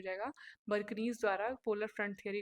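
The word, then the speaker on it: Bjerknes: ये बर्कनीज है, ये ऐसे होगा, इसको ऐसे लिखेंगे, बीच में सॉरी जे इसमें साइलेंट होता है।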